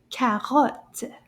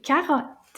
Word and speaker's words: carotte: French word is carotte. Carotte. How many syllables? Carotte. Deux. Deux syllabes dans le mot carotte.